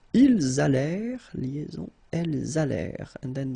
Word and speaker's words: allèrent: Ils allèrent, liaison, elles allèrent. And then this ENT at the end, you know, the mark for the plural, well, clearly you don't pronounce it, so you get allèrent.